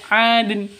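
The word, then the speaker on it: عَدْنٍ: Jadi cara bacanya itu adin seperti itu.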